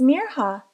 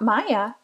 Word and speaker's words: Mirha: school the next day my name is mirha not Maya she told Hayden proudly and explained how to pronounce it properly I'll make sure to see your name right from now on Mir huh said Hayden I'm also